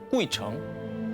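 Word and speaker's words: 鬼城: 다녀가기만 해도 장수한다는 전설을 가진 중국 발음으로 꾸이청, 한자로 보면 귀신 귀자에 도시 성자를 쓰는 그야말로 귀신들의 성, 귀성입니다.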